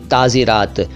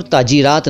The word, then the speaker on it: ताज़ीरात: भी और वैसे भी, ताज़ीरात। तो ताज़ीर का मतलब है सज़ा देना और ताज़ीरात का मतलब हिंदी में बताऊं तो दंड विधान, पीनल कोड। ताज़ीर, ताज़ीरात, इसको ताजीर और ताजीरात ना कहें, ताज़ीर, ताज़ीरात।